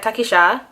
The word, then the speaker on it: Takisha: She comes out and she's like, Takisha. That's how you pronounce my name in Creole.